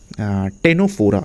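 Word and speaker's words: Ctenophora: तो कॉमजेस जो होता है वो होता है हमारा ये टेनोफोरा सी टेनोफोरा सी साइलेंट रहता है।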